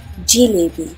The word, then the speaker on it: jalebi: in northern india while in southern india it is mostly pronounced as jiliby be it the bengali